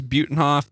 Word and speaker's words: Butenhof: one of those things I like butenhof we my family says butenhoff to be honest with you but that being said I'm pretty sure if you asked a German to pronounce my name it would be butenhoff butenhoff well anybody want